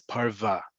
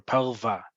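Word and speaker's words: פרווה: for asking it so the word for fur in Hebrew is parva or pelva it's spelled exactly like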